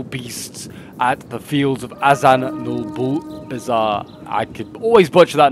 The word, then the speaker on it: Azanulbizar: at the fields of Azan no bizar I could always Butch that name aan n Bazar I think is how you pronounce it like I said I